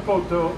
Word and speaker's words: Poto: partner right here donato poto grew up with so potos his last name and that rhymes with one it rhymes with toto and who is toto